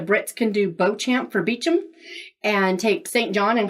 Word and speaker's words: Beauchamp: But I call it Alardnish because if the Brits can do Beauchamp for Beecham and take St.